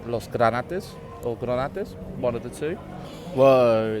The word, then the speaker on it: Granates: It's Granotes. That's it. Yay. Yay for bad pronunciation and probably just forgetting to say words, to be honest.